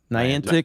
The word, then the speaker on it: Niantic: Niantic.